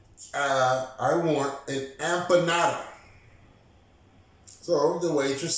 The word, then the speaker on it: empanada: The right word is empanada.